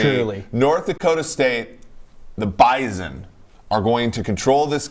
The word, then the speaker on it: Bison: It's not Bison. It's Bison. It's like a Z. It's almost a Z in there?